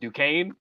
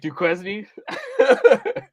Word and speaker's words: Duquesne: that first round, I know you said it's pronounced Duquesne. Duquesne, yeah. They had a big win. Duquesne. I thought I said Duquesne.